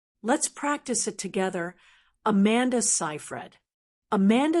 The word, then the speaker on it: Seyfried: with a long a sound in the first syllable. So it's Amanda Cyhred, not scred or c Fred. Simple, right? Let's practice it together. Amanda Cyhred. Amanda Cyhred.